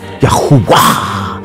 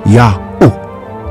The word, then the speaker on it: Yahuwah: All of those names uses the U sound or the U, Yahuwah, Yahuwah sound. So the first two syllables of the Father's name, Yahuwah, Yahuwah, Yahuwah, Yahuwah, as shown in the image.